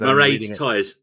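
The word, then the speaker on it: Máiréad Tyers: Because Mairead Tyres.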